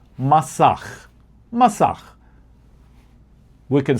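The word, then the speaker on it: masach: Well, there's a concept within the secrets of the Cababala called masak. Masak. We can spell it m a s a c h.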